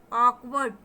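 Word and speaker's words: awkward: तो देखें इसका प्रोनाउंसिएशन देखें उल्टा सी बना हुआ है और उसके ऊपर दो बिंदी, ये साउंड देखा ऑकवर्ड.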